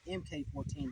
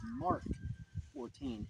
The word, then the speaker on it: Mk 14: actual military pres pronunciation it's not MK14 the real pronunciation is Mark 14 hence letters MK that's short for Mark now before we light